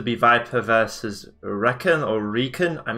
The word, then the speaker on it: RecoN: the you know uh reckon no Recon actually so doing recon operations um but I'm gonna keep calling him reckon because we kind of established that yesterday I'm gonna stick to that pronunciation I hope he doesn't